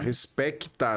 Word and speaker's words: Respecta: Respecta, né? Com C. O CTA. Desculpa, o P é mudo, né? Sim. Respecta com P mudo.